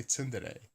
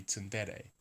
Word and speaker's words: tsundere: But I always say tsundere, which is not it as I understand it. As I understand it, the stress is on the de of dere, so it would be tsundere.